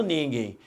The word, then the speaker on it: ninguém: Concentre que quando eu falo ninguém, ninguém, neste finalzinho aqui, repare que eu falo um i. Eu não falo ninguém. Alexandre, quem bateu? Quem bateu? Ninguém. Não fala nem francês, ninguém. Não, eu falo ninguém. Então, repare que no final, este M representa um I, aqui representado foneticamente pela letra Y.